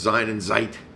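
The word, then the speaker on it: Sein und Zeit: And it's Sein and Zeit is the way they would say it.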